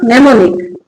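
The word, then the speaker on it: mnemonic: तो वर्ड कहां से शुरू होगा? सीधा एन से शुरू होगा। क्या लिखा? नेमोनिक।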